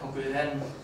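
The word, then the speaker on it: 国連: koku and connect the character for connection is pronounced ren, and you know that koku ren is United Nations, then you can also get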